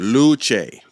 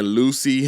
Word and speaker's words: Luce: Luce. That's all I wanted to know. That's all I need to know. Because I was saying Lucy, and I was like, it's not Lucy.